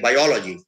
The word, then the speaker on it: biology: So LOGY, and then it's accented on the syllable preceding that. So the suffix is ology. L-O-G-Y is the word, is the sound, is the syllable, and that the sound that the suffix of that is ology. So biology. We don't say biology, we say biology or magic.